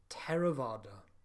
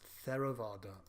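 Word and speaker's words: Theravāda: no sound in poly poly th is a single letter pronounced turn this is found in the word Tara vada which is not to be pronounced Theravada also note the pronunciation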